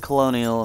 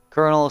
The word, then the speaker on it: colonel: I said colonial and someone met, you know, it's spelled like colonial, so I'm sorry. Colonel, someone else told me it's pronounced colonel, so I'm just gonna